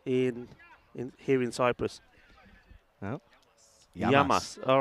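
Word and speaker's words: γειά μας: you say cheers in here in Cyprus yam yamas all right Charlie yamas yamas and uh let's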